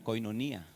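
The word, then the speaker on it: κοινωνία: Koinonía.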